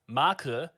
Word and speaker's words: Maku: I think it's Maku is how it's supposed to be pronounced because they're very like the what I can't English today.